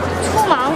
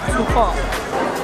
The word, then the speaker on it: 粗犷: OK，第二个就是这个，好吗？Alright，来这个是怎么念？粗什么？粗盲。粗犷。